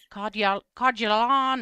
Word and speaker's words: Coeur d'Alene: It's French. Okay. It's French. Codularon. And yeah, it's wild. But anyway, Cordelane uh is in northern Idaho.